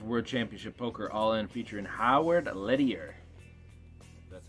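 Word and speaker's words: Howard Lederer: $5.95 World Championship Poker All-In featuring Howard Lettier. That's how you pronounce his name.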